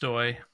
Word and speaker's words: Stoj: Um so first I I will mention that I have no choice but to mention that uh that my my name is pronounced Stoy.